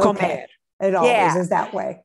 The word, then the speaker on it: comer: when you pronounce that, where's the accent? Like to eat? Yeah. The infinitive, not when we don't do anything to it. Okay. We don't conjugate it. We punch the ending. Okay. Comer.